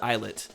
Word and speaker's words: islet: lighthouse I'm uncomfortable sunset islet yes I hate the word islet and Island there's a silent s like why why do you have to have that s in the word why can't it just